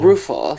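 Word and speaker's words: Ruefle: Now, you mentioned a little bit earlier Mary, I can't pronounce her name, is it Mary Ruffel? Ruffel, yeah. Mary Ruffel.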